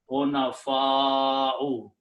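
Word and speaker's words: حُنَفَاءُ: Because of this Hamza, we put a mad on the alif and pronounce Hunafa'u.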